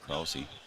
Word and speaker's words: Krause: Now bring up number 9 hitter, Grant Krause. I was told to pronounce it Krause, so I'm hoping I'm doing it right.